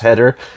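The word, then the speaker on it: Heder: he is napoleon dynamite i think it's pronounced header h-e-d-e-r and this really made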